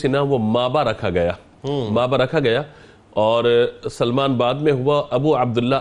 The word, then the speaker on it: سلمان: کی اصلاح چاہتا ہوں۔ بعض لوگ آپ کو سلیمان پڑھتے ہیں، سلیمان نہیں بلکہ سلمان ہے، یہ یا کے ساتھ نہیں ہے، تو اس کو تلفظ